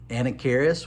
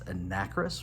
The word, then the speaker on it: Anacharis: There's also some Anacharis, which I recently found out is not how you say it. It's Anacris, which is going to be hard for me to get used to saying, but I'm pretty sure